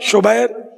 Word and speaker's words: شبیر: رائج شبر اور شبیر، اعلیٰ حضرت نے اس کا تلفظ ہی بیان کیا، شبر، شبیر، مشبر۔